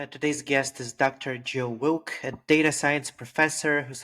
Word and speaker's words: Wilck: So my name is Joe Wilk. Rhymes with milk, I like to say.